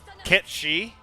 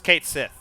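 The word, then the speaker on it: Cait Sith: Kit Shi? Come on. That's how you say it. No, don't piss on my head and tell me it's raining. Okay? It's Kate Sith. It was Kate Sith.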